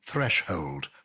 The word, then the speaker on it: threshold: In threshold, there's only one H at the beginning of the hold part, but you say thresh and then hold.